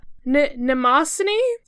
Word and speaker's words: Mnemosyne: So, let's see if I can pronounce her name. Mnemosyne?